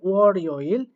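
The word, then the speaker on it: 월요일: এভাবে মূলত উচ্চারণ করতে হবে। এরপরে যেটা বলা হয়েছে এখানেও দেখেন রিগুলটাকে তুলতে হবে ওয়ারিওইল।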